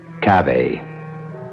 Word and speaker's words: cave: Latin word spelled the same way c-a-v-e but pronounced Cabe it means beware our cast included Marion Zelda's